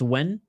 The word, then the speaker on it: Nguyen: Oh, and a nice left hand by Nguyen. That's how you pronounce her name? Nguyen. It's Nguyen.